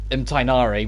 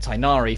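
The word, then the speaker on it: Tighnari: what i'm sticking with i know in the actual like dialect it comes from it would be you wouldn't pronounce that you wouldn't pronounce half the letters if i'm honest but the voice direction for every version of the game has pushed that and the characters pronounce it tinari for uniformity so even if it's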